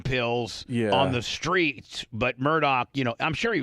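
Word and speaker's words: Murdaugh: mess How do you pronounce how do you pronounce their last names? Murdo.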